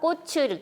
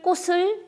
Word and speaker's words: 꽃을: 다음에 꽃을 꺾지 마세요 자 꽃을 도 치울 받침이 그대로 뒤에 모음이 늪 쪽으로 넘어가서 즉 넌 음 되어서 그대로 읽어 주면 됩니다 꽃을 이걸 뭐 꽃 틀 꼿을 이렇게 발음하는 것은 아주 잘못된 발음이 줘 자 앞으로 그 다음에